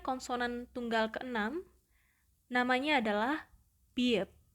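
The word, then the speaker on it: 비읍: Selanjutnya konsonan tunggal ke-6, namanya adalah biep, biep, biep. Dan pelafalannya mendekati huruf B. Jadi bunyinya adalah b, b, b, b.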